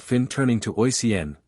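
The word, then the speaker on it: Oisín: said Finn turning to oen pronounced a shein the cuckoo calling from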